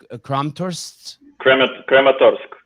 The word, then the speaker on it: Kramatorsk: That thing that the thing that happened in, will you pronounce the name of that city for me? Kramatorsk?